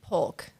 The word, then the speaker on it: Polk: Polk. You say the L. I make the L.